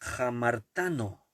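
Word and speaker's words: ἁμαρτάνω: pecar en griego es a marta no y tal como suena a marta con acento en laja marta no y jamar a marta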